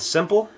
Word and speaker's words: SMPL: I use today is called Simple uh it's spelled s smpp and it is a DJ